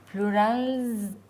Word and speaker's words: plurals: Plurals. You got it right there, because this is not plural. This is plurals. Plurals, yeah, plurals. With a Z.